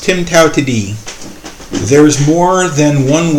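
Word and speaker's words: TIMTOWTDI: you'll see okay you'll see something that is pronounced Tim Tao to Dean there is more than one way to do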